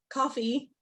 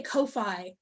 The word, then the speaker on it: Ko-fi: the Venmo, or the coffee. I always want to say Ko-Fi because it's spelled Ko-Fi, but they mean like buy me a coffee.